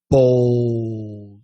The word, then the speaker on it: bold: pronounce bald and bold that's an aw bald bowl that's an o sound bald and bold me